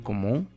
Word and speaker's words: comment: Vuvuzapele como, voilà, la letra T no se pronuncia, como te había dicho, ¿no? Lo que es la S final y la T final, en la mayoría de palabras en francés no se pronuncian.